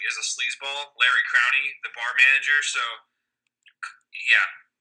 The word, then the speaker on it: Larry Crowne: So actually, it's actually pronounced Larry Crowney. Then, like Crowney sounds like a really terrible like bar owner somewhere like that just like is a sleazeball. Larry Crowney, the bar manager.